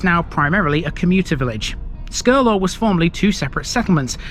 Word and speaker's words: Skirlaugh: brilliantness of British pronunciation if you look at the name of this place written down you think it says scur laugh you think what's funny about it well I don't think there's anything funny about it but then again you wouldn't be pronouncing it right this is Scurlock here's my disclaimer